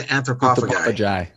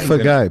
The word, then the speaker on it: anthropophagi: No, it's Inbreeding the Anthropophagi. Anthropophagi. Oh, see, he said it wrong. Guy or Jai? Guy. Puffagai. Puffagai. Anthropophagi. Puffagai. Yeah. Inbreeding the Anthropophagi. It could be Puffagai.